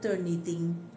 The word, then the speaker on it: Turnitin: La primera de ellas, muy conocida, las 3 yo creo que son muy conocidas, es Turnitin. Turnitin, Turn It In, en inglés, se escribe completo.